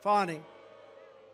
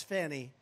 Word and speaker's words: Fani: Fani. It's pronounced Fani, F-A-N-I. That's Fanny. But she likes it Fani.